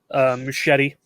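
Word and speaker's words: Muschietti: it but no so Andy machete buddy that's how you pronounce his last name he did the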